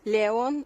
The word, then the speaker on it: Леон: Леон, ударение, Леон, Да.